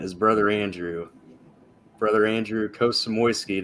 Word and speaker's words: Kosmowski: brother Andrew brother Andrew kosamoiski that I pronounced that correctly cosmowski is all right so uh the first